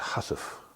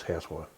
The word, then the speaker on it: housewife: It's actually pronounced a hussif, but it's housewife.